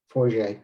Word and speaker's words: Forget: how do you say, hey buddy, how do you say your last name? Forget, it's French.